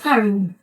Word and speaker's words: Caroni: But the flower is pronounced Caroni.